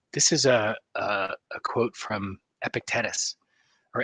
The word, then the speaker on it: Epictetus: This is a quote from Epictetus or Epictetus. I actually looked up the pronunciation.